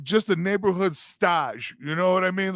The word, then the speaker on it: stage: Spelled S-T-A-G-E, best pronounced stage.